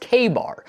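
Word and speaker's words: Ka-Bar: They like this story so much that in 1924 they trademarked the term Kabar, pronounced KBAR, which was meant to stand for kill a bear.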